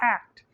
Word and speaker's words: ACT: acceptance and commitment therapy or act pronounced as one word not the individual letters and it just may